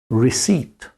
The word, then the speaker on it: receipt: life difficult for you they slip in a p that you don't pronounce received again e i